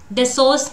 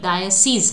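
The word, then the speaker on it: diocese: ठीक है, डिसोर्स क्या हो जाएगा? Actually the correct pronunciation must be डायसीज, है ना?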